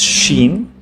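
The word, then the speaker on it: شين: pronounced like the letter s this one is Sheen pronounced like the letters sh in shei share ship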